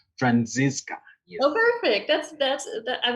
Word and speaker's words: Franziska: participants uh thank you friends francisco your name is pronounced franziska oh perfect that's that's